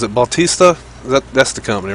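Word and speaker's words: Bethesda: I'm actually, how do you pronounce it? Bautista? That's the company, right? Bautista? Besta.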